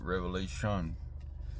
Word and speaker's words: Revelation: Revelation. It's not Revelations. This is what I'm told.